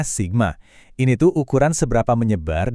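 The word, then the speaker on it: σ: Oke, kalau tadi rata itu soal posisi, sekarang kita lihat simpang baku atau sigma, dibacanya sigma.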